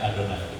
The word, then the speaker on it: Adonai: itu S disangkal karena waktu mengucapkan Yehova itu seperti mengucapkan adonai karena itu asalnya kata tadi kata yahovah itu dari huruf-huruf hidup yang EE yang ada di adonai jelas jelas nah jadi waktu orang menulut yahovah itu tidak terlalu ke nama sucinya benar yahwi gitu sehingga itu masih oke gitu ya padahal Memang harusnya ya adonai aja bacanya tapi begitu orang melihat